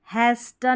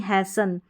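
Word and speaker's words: hasten: पास्टन नहीं पासन यहां पर विस्टल नहीं विसल और हैस्टन नहीं हैसन यहां पर लिस्टन नहीं लिसन तो इस तरीके से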